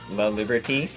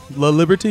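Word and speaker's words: LaLiberte: Just know my last name is La Liberty. Not whatever you said it. Everybody pronounces it wrong though. Well, La Liberty, you said?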